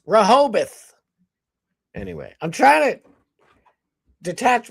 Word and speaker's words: Rehoboth: You would say Rehoboth, but it's Rahobath.